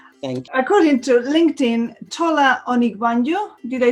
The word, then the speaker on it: Tola Onigbanjo: According to LinkedIn, Tola Onigbanjo, did I say it right?